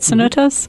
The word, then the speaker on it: cenotes: Cenotes? Mm-hmm. Cenotes.